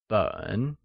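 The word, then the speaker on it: 本: The Measure word for volume or any bound print or written matter is Běn which is pronounced in the falling rising tone!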